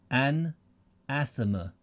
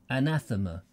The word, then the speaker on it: anathema: oh here we go an athama anathema oh is that how it's pronounced anathema atheist no it's not atheist he may have been